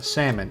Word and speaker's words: salmon: it right is it salmon or is it salmon go to google and check that out how do you pronounce sam is the number one thing the merriam-webster dictionary is uh salmon s-a-m-u-n so noel i'm officially